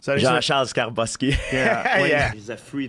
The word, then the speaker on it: Skarbowsky: Skarbowski? Jean-Charles Skarbowski.